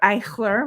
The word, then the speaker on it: Eichler: Judy and I met just casually via Facebook because she recognized my last name as Eichler, which is also, or Eichler, which is how my grandfather would have pronounced it.